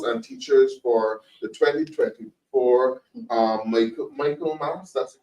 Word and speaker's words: Michaelmas: You have a situation with late notifications of the transfer of principals and teachers for the 2024 Michaelmas, that's the correct pronunciation term.